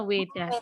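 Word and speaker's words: Veda: sucinya namanya adalah Weda tulisannya V ya tulisannya pakai PV dari Tapi bacanya wedah wedah Aa Nah kalau hari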